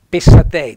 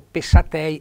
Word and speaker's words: patei: singolare con WS naturalmente patei DS è una b accento tonico sulla e finale vedete accento tonico e accento fonico patei aperto pessat invece al